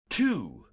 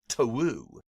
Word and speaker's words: two: The fact that 2, the number, is spelled with a W, even though we have chosen not to say one twu.